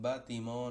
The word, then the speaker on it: bâtiment: El siguiente ejemplo se pronunciaría c'est un bâtiment en construction. En este caso, aunque aparezca una T al final de bâtiment, esa T es muda y lo que se